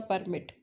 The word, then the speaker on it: permit: Permit is P. When you give stress on P, beginning wala P, तो वो permit document है. Suppose I say, I can't permit you.